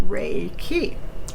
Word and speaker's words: Reiki: forth and we are choosing to call it ray key ray the radiant cosmic energy of the sun